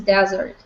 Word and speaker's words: desert: Alright, and also there are two words that I don't want you to mispronounce. There is a dessert and there is desert.